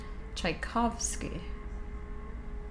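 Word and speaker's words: Tchaikovsky: Is the T silent? Is it No. Is it just Chaikov Chaikovski? I don't know. When I see his name, I'm like, "Oh, yeah." Yeah. The T is silent. Tchaikovski.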